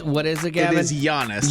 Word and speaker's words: Giannis: is again it is Giannis Giannis silent G apparently that's pronounced like a y he's from Greece oh did you really